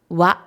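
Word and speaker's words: は: Donc, on a la particule wa qui s'écrit ha, qui se prononce wa.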